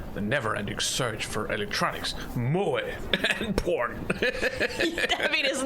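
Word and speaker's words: 萌え: Pronounced moe, in case you wanted to pronounce it mo.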